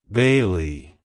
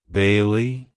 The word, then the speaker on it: Bailee: Bailey it's pronounced as Bailey Bailey Bailey to pronounce it correctly emphasize the first syllable B and then the